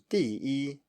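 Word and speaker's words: 第一: The final one, 第一, 第一, 第一, number one.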